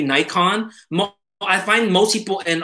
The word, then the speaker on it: Nikon: awesome um ibrah ibrahim i love how you pronounce nikon i know that's the correct japanese yeah it is i mean it's mostly united states that say nikon i find most people